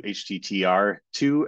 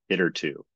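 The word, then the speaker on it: httr2: I may slip into HTTR too every once in a while but officially the the package is pronounced hitter 2 so okay let's start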